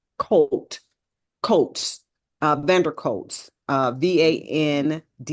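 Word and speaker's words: van der Kolk: Oh, I can never pronounce his name. Colt Coates, Vander Coates, VanderKolk.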